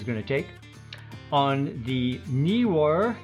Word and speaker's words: Neewer: to take on the newer newer knee newer i think it's pronounced camera slider actually to uh be specific as it's advertised the knee war camera slider video track